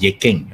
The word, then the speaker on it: Yi Jing: Yeah, in Cantonese, we pronounce this as Yi Jing, right?